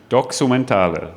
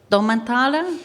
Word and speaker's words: Doxumentale: We currently go with Doxumentale. Doxumentale. Doxumentale. Okay, very It could nice. be also Documentale, but we like the X more.